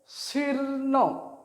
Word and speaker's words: শীর্ণ: দেখো উচ্চারণ কীভাবে আসছে, শীর্ণ, আগে রটা আসছে তারপরে মূর্ধন্যটা আসছে, শীর্ণ, তার জন্য রটা এখানে আগে দেওয়া হয়েছে আর মূর্ধন্যটা পরে। রেপ থাকলেই জানবে যে রেপের যে রটা, সেটা যার উপরে রেপটা আছে সেই ব্যঞ্জন বর্ণের আগে রটা বসবে। ঠিক আছে, উচ্চারণটা হবে শীর্ণ, রয়ের উচ্চারণটা আগে আসছে।